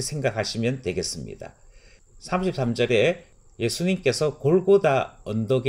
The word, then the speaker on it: 골고다: 도착 했음을 알려주고 있습니다 이곡 이름을 골고다 라고 부르는 것은 바람 어를 헬라어로 음녀 캐서 불렀을 때 발음입니다 라티노 는 갈고리 라고 부르게 되는 것이지요 그래서 찬송가 가사의 보면